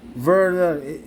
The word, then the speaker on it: Werner: Asan na ba si Werner? Verner yung ano yung W sa sa German is pronounced as V.